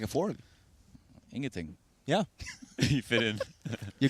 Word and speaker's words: ingenting: Ingenting. Ingenting.